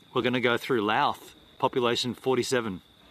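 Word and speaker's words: Louth: going to go through lath population 47 did you just say that with a list l l l it's spelled l o u t h there's nothing there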